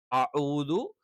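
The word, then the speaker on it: أعوذ: അഊദു, അഊദു ഐന് തന്നെ വേണം. ഹംസ തെറ്റാണ്.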